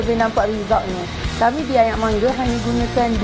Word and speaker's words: Ayaq Mangga: Ayak Mangga. Ayak Mangga. Memang kena pronounce dia macam tu lah.